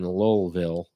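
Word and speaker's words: Louisville: You brought up Whiskey Row in Lowellville. Yeah. They pronounce their L's in Kentucky. Lowellville.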